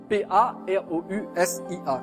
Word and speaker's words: parousia: P-A-R-O-U-S-I-A, comme ça se prononce, parousia.